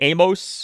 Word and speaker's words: Amos: Uh by the way, no more Trey Amos. He has said that his last name is pronounced Amos like famous Amos and so we say Trey Amos.